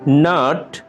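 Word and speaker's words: gnat: ন্যাট, নাট, মশক, এক ধরনের মশা। নাট, মশক, এক ধরনের মশা। এখানে জি লেটারটি অনুচ্চারিত থেকে যাচ্ছে।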